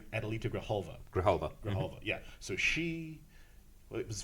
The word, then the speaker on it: Adelita Grijalva: Adelita Grijalva. Thank you, because I can't pronounce her name. Adelita Grijalva.